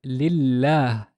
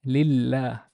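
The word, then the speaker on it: لله: And we pronounce this lillah, lillah.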